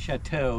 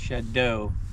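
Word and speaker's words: Chadeau: Mountain Shadow Shadow and it's spelled weird it's c h a d e Au okay on Facebook kind of French yeah yeah yeah but not chateau it's Shadow okay and it's on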